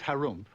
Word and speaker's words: Harump: In the land of Harump, which is pronounced like when you clear your throat, there lived an ogre.